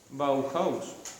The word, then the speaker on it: Bauhaus: Normalmente la H suena, pero supongo que porque en alemán se dirá así. Bauhaus.